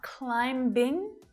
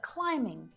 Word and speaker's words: climbing: It's not climbing, but climbing.